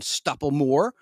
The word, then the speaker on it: Stoppelmoor: So happy 74th birthday to Cheryl Ladd, who was born as Cheryl Jean Stupplemore, and her last name is spelled Stoppelmoor.